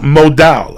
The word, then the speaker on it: modal: pair of meundies source modal I pronounce modal m o d a